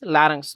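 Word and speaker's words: larynx: लरक्स। तो आपने इसकी प्रोनाउंसिएशन ध्यान से सुननी है। यह फेरक्स है।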